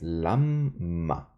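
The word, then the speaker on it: לָמָה: sentir en la pronunciación Así que es Lama pero el acento está al inicio vamos con la siguiente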